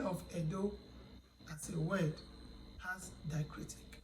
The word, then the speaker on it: Edo: Letter E that has diacritic, that letter E is pronounced as E. That's why you have Edo language. Edo is spelled as E-D-O. But the E in spelling of Edo as a word has diacritic.